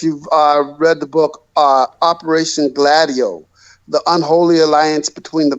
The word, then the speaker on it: Gladio: Well, Operation Gladio, by the way, that's its pronunciation.